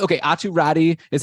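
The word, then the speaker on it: Räty: the last time, like in the official NHL pronunciation guide, it is like it's spelled out or pronounced out as Rati, which means that Atu has asked, like it mentioned to North American media, like how do you want your name pronounced? That's what he's chosen.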